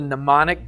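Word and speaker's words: mnemonic: It's called a pneummonic device. Starts with an M, but you know the M is silent.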